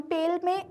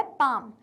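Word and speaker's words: palm: जैसे हमने काम में एल को प्रोनाउंस नहीं किया था वैसे ही हम पाम को भी में भी एल को प्रोनाउंस नहीं कर रहे हैं। क्या हम इसको ऐसे बोल रहे हैं क्या? पालम नहीं। हम इसको क्या बोल रहे हैं?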